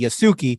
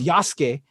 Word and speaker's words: Yasuke: You know, there was a black samurai by the name of some people might pronounce it because it's spelled Yasuke, Yasuke, but it's Yasuke, and it's done.